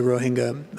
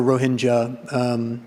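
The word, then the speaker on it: Rohingya: about with regard to the ROE hanga or Roja both both pronunciations are generally accepted one thing that I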